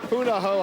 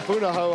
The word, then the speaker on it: Punahou: I keep mispronouncing it. It's all right. Punahou High School Marching Band from Honolulu. The President of the United States graduated from Punahou High School in 1979 at the 2013 Presidential Inaugural Parade.